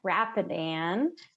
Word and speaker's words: Rapidan: so thank you again Maggie bloomstrom and it's pronounced Rappahannock Rapidan there are two rivers in our area um